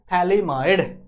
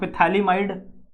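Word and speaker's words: phthalimide: गया यहां लिख दूं य पी साइलेंट है जो पी है शुरू में हम लिख रहे हैं यह साइलेंट है इसको आप पथली माइड पढ़ सकते हो इफ you want to read पढ़ सकते हो बट बाहर मत जाके बोलना बेइज्जती हो जाएगी आपकी आपको पता नहीं होगा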